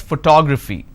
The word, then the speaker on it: photography: toe fee four syllables but in this case i stress on the second syllable that is what word